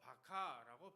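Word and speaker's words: בכה: 여기 울다라고 하는 단어가 나오는데요, 바카라고 발음하는데 조용히 눈물만 흘리는 정도가 아니라 마음이 완전히 무너져서 슬픔이 터져나오는 울음을 의미하는 겁니다.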